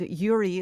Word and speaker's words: Uri: understand the the correlation and yuri is spelled uri and her last name